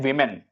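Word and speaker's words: women: वुमेन यहां पे देखिए इस शब्द को कई बार लोग गलत प्रोनाउंस करते हैं। इसका करेक्ट प्रोनाउंसिएशन है वुमेन हैड टू वॉक मतलब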